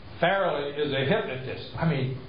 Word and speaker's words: Farrelly: Not Farrelly, but Farrelly. Merrily Farrelly.